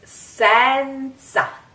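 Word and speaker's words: senza: so I grew up like that I'm sorry sometimes it comes out it's Sansa set set set you try set sin sin now a concentrate on that it's not Sansa never do that it's really funny it's really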